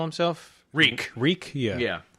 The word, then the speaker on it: Reek: Reek. Reek? Yeah. Yeah. I thought it was Freak. No, it rhymes with meek.